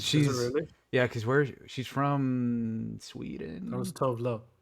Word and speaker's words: Tove Lo: yeah, because how do you pronounce her name? Like Tova Lu? Tove Tove Lo.